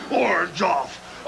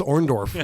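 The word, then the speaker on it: Orndorff: to take out Andre ore off Andre Hercules Andre vov Andre Andre Andre oror why can't he pronounce orndorf what is wrong with Hogan yeah my best friend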